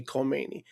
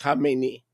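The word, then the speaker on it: Khamenei: and by the way, people can't pronounce it. They say Kmeni. That's not Kmeni. Kmeni is the guy that he succeeded. Okay? It's Hamemeni. They Americans see a K and they go Kmeni. That's not Kmeni.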